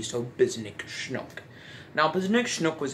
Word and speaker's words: Bzznick Shncook: the chinook i realized that when i was pronouncing so i put an n between h and c so bisnick schnook now because next snook was actually made by